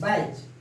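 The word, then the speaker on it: batch: फिर टी के प्रोनाउंसिएशन नहीं होता है जब भी सी एच के पहले टी आ जाता है कहीं भी किसी भी वर्ड में तो उसके प्रोनाउंसिएशन नहीं होते हैं। बैच, कैच, मैच, किचन, ऐसे करते हैं। बैच, T silent.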